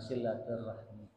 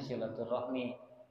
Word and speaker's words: silaturahmi: Qala summa silaturahmi. Silatur rahmi atau silaturahim. Kalau ditulisnya silaturahmi dilafalkannya sesuai kebanyakan berdasarkan kaidah likasratialihi. Karena banyak yang pelafalannya yang menggunakannya silaturahim.